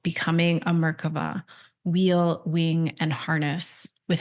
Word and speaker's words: Merkava: Is it Merkava, or do I say it differently? It's Merkava. Merkava.